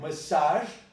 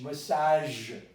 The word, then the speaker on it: massage: But it's not age, massage. This is a French word. So massage, massacre.